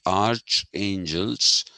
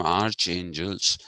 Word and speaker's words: archangels: say arch bishop but when we talk about arch angels we don't call them arch angels we call them archangels